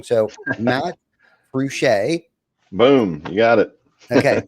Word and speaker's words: Fruge': So, Matt Ruchcher, boom, you got it.